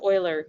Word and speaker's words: Euler: for us euler's method and yeah it is pronounced euler even though it looks like euler so euler's